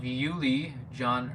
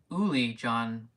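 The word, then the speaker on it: Uli Jon: do you think of Yuli John I think it's pronounced Uli John he's he said Uli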